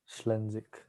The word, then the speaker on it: Schlenzig: I do have a middle name, Schlenzig, or I guess the like German pronunciation is like Schlenzig. Oddly. Like not that different, but Schlenzik.